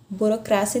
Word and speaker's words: burocracia: tá olha a palavra burocracia na língua portuguesa na língua espanhola burocracia burocracia Então já muda aqui a sílaba tônica a mesma coisa acontece